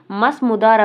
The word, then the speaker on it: Mazmudar: நான் spelling pronounce பண்ணுறேன், note பண்ணிக்கோங்க. MAZMUDAR மஸ்முதார் அப்படிங்கிறவருமே வந்து அவரோட படிக்க போயிருப்பாங்க.